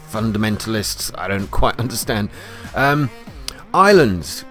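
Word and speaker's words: Ylands: Islands came out, or they showed us a bit more about it, although it's spelt Y lands. It's the Y apparently stands for your lands.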